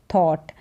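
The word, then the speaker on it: thought: है थॉट क्या है थॉट यहां पर भी जो जीएच है साइलेंट है थॉट हो गया टोट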